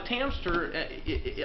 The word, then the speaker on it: Tamster: Now the Tamster, I know it rhymes with hamster.